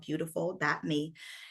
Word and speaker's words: byoutiful.me: My website is called beautiful.me, and it's spelled BYOUTIFUL.me.